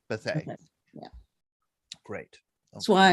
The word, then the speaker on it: Bethea: And but a gathering of men, of course, is your father-in-law, and his last name is pronounced Bethea. Bethea.